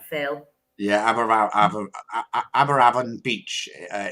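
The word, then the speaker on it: Aberavon: is going to be down in am I pronouncing that right Phil yeah aberravan Beach uh it's on the Promenade it's going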